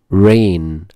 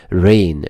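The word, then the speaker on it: reign: ميوزيم ميوزيم متحف ين رين طب هتقوللي حرف الجي ده سايلنت ما بيتنطق ين ين يعني حكم او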